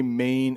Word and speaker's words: Maine: in the main election now notice the way Maine is spelled m a i n I live in the state of main m a i NE e Maine and then in November in